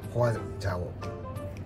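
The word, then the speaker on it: 花椒: で、こちらがメインというかホアジャオ、花に山椒の椒と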